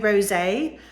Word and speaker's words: rosé: next I've got cafeo Rosé and it is rosé cuz it's got an accent on the e um and this has